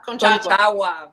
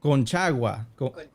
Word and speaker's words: Conchagua: I am gonna have a very hard time pronouncing Volcán Chuca. Concagua. Conchagua. Conchagua.